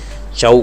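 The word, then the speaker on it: Chhau: Recognise these are recognise bye संगीत नाटक academy और समवेयर मेंशंड नाइन जैसा मैंने आपको बताया जो कि यह चऊ करके प्रोनाउंस करते हैं बाय मिनिस्ट्री ऑफ़ कल्चर।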